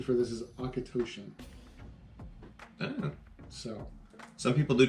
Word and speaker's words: Auchentoshan: And the pronunciation for this is Akatoshan.